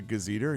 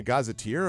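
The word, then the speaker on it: gazetteer: what did you say I'm like a a gazer he's like really he's like he's like you mean a gazeteer I'm like and I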